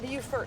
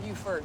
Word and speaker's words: Buford: Uh, not Bufort, like the city. Buford, B U F O R D.